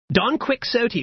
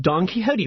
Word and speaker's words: Don Quixote: minute book repurposes a last minute book report Don quick so T which is pronounced Don Quixote by Miguel de Cervantes this really old dude